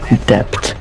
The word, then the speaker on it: debt: putting yourself in war dep yeah why did you say it how do you say it dep dep dep do you say it it's that oh just silent B okay idiot oh